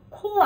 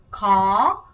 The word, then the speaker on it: khó: 발음 코 아니고 khó 이렇게 해주시면 되겠습니다.